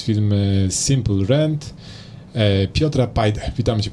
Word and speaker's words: Simpl: Wiesz co, stworzyliśmy, jak dobrze wiecie, coś, co nazywamy Simple Rent, Simple bez E, bo to takie proste i jak się mówi Simple, to się tego E nie wymawia, więc zrobiliśmy Simple bez E.